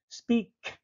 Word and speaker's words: speak: to speak speak speak notice at the end of our English words we always pronounce the last letter the latter here is K speak speak very strong speak and to sing